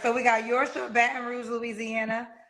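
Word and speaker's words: Yorcha: Yorsha. Yorsha? Mm-hmm. Okay, Yorsha. How you spell that, love?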